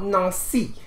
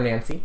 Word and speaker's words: Nancy: Our tale takes us to the city in France called Nancy, or Nancy, depending on your pronunciation.